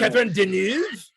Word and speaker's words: Catherine Deneuve: Catherine Deneuve? Catherine Deneuve plays an ancient Egyptian vampire living in New York in an upscale apartment.